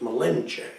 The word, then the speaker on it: Malinche: Cortez milenge milenge a you always see it Mille inson they pronounced Malinche and that means master